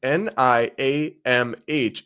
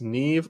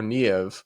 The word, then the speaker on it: Niamh: Another person writes, Niamh is an Irish name pronounced Neve or Niev. The way you said it made me LOL.